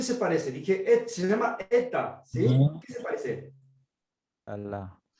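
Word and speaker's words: ἦτα: Epsilon es E corta y eta es E larga. ¿Qué significa eso? Cuando uno pronuncia, cuando aparece epsilon E corta es E Epsilon. y Epsilon. eta E larga. Eta.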